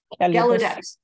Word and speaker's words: Gallaudet: Gallaudet, I'm not sure how to say it, Gallaudet, thank you.